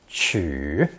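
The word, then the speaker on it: 取: gods for some favor pronounced third tone choo choo this letter became more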